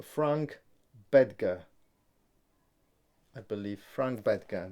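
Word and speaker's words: Frank Bettger: Frank Bedger, that's the pronunciation.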